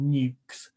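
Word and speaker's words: nucs: These small colonies are often called nukes. A nuke is a word to describe the box they're kept in, but also the colony itself. So it's spelled N-U-C, and people will say, oh, I've got some nukes for sale or whatever.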